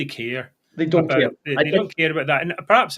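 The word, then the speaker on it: D'Hondt: everyone talks about the deont system. It's it's not even pronounced that for God's sake. It's pronounced don't as in don't for sake vote for the SNB, you know.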